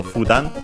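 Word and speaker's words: 普段: The accent is accented on the first one, so Fudan.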